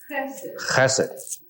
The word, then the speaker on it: Chesed: I don't know if I know how to pronounce them exactly. Hesed? Chesed. And the other one, Gebura? Gevura. Chesed and Gevura.